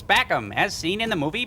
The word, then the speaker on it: PACOM: the from the movie they called its PACOM that's how it was actually pronounced in the film but instead Joel and the bots changed up the pronunciation a bit and they've got an